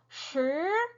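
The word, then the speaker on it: 十: 혀를 평평하게 그냥 우리나라 발음 그대로 쓰레기 할 때 이렇게 하시면 되고 10은 어떻게 돼요? 동굴 소리죠. 혀를 말아서 입안에 동굴을 만들어서 내는 소리 시 이렇게 소리가 나요.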